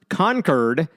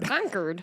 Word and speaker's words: Concord: did they do that by the way it's pronounced conquered which I was corrected